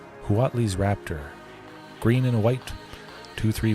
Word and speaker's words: Huatli: I like really pronouncing the H there. Huatli's Raptor.